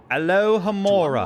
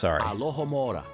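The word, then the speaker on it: Alohomora: your warand to get it going Alora alohamora lock doors with just a wave of the wand speak the incantation alohamora Clearly Now 3 2 1 Alo hamora excellent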